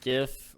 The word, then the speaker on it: GIF: old question is it gif or is it gif it's GIF 100% the G is for graphical so it must be a g uh a hard G you know at least